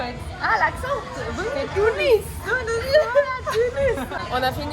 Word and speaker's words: Tunis: T'as prononcé en fait. Ah, l'accent. Oui. C'est Tunis.